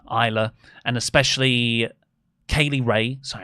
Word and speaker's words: Isla: Really pleased for Piper, S is silent, Isla, and especially Kaylee Ray.